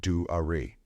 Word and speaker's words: Dwar: They saw Dwar, pronounced Du-Ari, and pursued her.